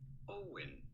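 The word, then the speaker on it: Eoin: just want the pronunciation not like it's spelled but simply owen owen oh owen colfer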